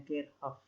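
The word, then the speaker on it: Kirchhoff: dulu diselenggarakan Hukum Kirchoff aslinya dari Jerman jadi bacanya gate of ya di sini ada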